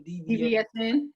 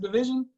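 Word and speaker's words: DVSN: I never knew that's how it was pronounced. I always called them DBSN. DBSN? That's okay. DBSN. I was like Division. Who's Division? Is it pronounced Division?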